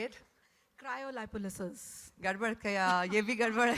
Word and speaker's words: Cryolipolysis: Cryolipolysis. Gadbad kaya, ye bhi gadbad hai. There is actually a far cleaner pronunciation which I'm going to have the gentleman tell you. Cryolipolysis.